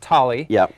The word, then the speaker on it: Thali: It's pronounced tally.